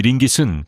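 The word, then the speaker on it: ringgit: 말레이시아의 통화는 링기스라으로 발음은 링깃입니다. 1미 미국 달러는 약 4링깃입니다.이 링깃은 꽤 오래 갑니다.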